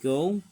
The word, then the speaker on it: gull: This is the summer breeding plumage black-headed gull, or gal as I call it, as I pronounce it.